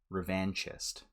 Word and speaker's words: revanchist: It's actually pronounced revanchist. It comes from the French word for revenge, which is revanche.